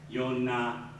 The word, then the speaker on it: Yonah: Of course, the J represents the Y sound in Hebrew. So it would be pronounced Yohanan, Yonah, Yudah, Yeshua, Isaiah, Eliah.